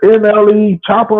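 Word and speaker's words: NLE Choppa: And it's just NLE Chopper or what?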